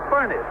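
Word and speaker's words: Furness: the Pittsburgh Steelers so he pronounces his name furnace but he has been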